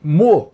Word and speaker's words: Meaux: A nossa parada de hoje é na cidade francesa de Meaux. Essa é a pronúncia correta, o nome está escrito aí.